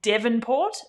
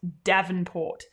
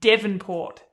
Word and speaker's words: Devonport: Now, it is pronounced Devonport, not Davenport. I repeat, Devonport. D-E, not D-A, like the boxer shorts, I think it is, Davenport.